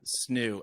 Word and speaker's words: Snoo: And that's the Roo? How do you spell that? Snoo, SNOO.